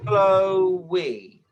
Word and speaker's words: Chloe: I'd say Chloe. I would So, say Chloe is two syllables. okay. Even though the way it's spelt, it looks like it should be one syllable, I think.